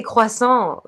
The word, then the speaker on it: croissant: Yes, I say croissant like we're supposed to say croissant. That's the actual pronunciation. Very, very French, right? Croissant.